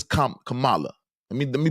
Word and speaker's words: Kamala: this election all right the Democratic nominee Mrs Camala Harris no excuse me yeah c Kamala I think it's Kam Kamala let me let me pronunciate it correctly Kamala Harris all right she was a great representation